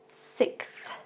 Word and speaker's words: sixth: Sixth. So this word is quite difficult to pronounce because we have the X and the TH following after.